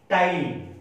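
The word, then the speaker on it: ptyalin: a perfect enzyme called tiny remember P is silent in this word do discipline the spring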